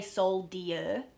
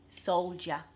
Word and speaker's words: soldier: cold soldier so yeah we don't say Seoul dear and even though it's spelled that way it's a job it's cut it's almost like there's a Jay Jay a soldier and the last example